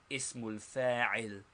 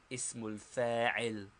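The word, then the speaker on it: اسم الفاعل: First, the noun of agent or active participle, pronounced ismul fa'il, ismul fa'il. The noun of agent or active participle, ismul fa'il.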